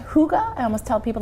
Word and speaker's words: hygge: because it's spelled very differently yes so it's pronounced hygge I almost tell people like toga toga but